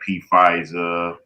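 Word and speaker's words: Pfizer: The exports valued at around 10 billion accounting for 11% of US pharmaceutical exports and that's companies like P FISA Johnson and Johnson. The P is silent.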